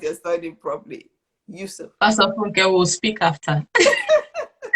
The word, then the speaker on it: Yusuf: I hope I pronounced your surname properly. Yusuf.